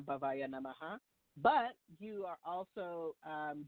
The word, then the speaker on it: Bhavaya: So the mantra is Om Shadavana Bhavaya Namaha.